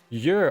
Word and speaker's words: Jur: Just say, you can call me Jur. With J pronounced with the Y. Yer, okay.